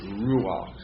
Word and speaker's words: ruach: second nature to you so that's the proper pronunciation of that word word is ruach but you see that's not that's not a consonant that Bol it's really a shurik and you got to pronounce the PO before is everybody getting that furtive po all right quient Olive